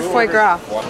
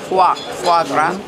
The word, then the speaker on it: foie gras: Who ordered foie gras?